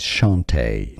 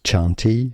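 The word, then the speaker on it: Chanté: at the end is Shante now CH in French is pronounced like sh so sh Shante this is the most common pronunciation now some might say it as chanti especially if it doesn't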